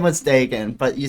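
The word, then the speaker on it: Daegan: So people would always call him Deegan, which I didn't even fucking stand. I gotta put the fucking in the middle of understand. I had no fucking clue how that worked. D-A-E is pronounced day.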